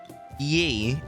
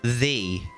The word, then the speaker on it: ye: Do you know, I don't know Old English, but I do know that ye is actually pronounced the, hence why it's there.